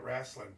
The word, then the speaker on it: wrestling: He's our When you say professional wrestling, do you say it with three syllables? wrestling like I just did or do you say wrestling? Yeah, wrestling. Oh, wrestling. He He's going to go rah and then do it in two syllables. Wrestling. No w involved in there. No e. There's not even an e. There's just a r.